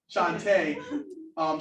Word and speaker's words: Shantae: Shantae. Shantae. I always want to say Shanta. Yes. Shantae.